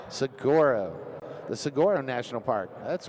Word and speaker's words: Saguaro: Sigoro. Sigoro.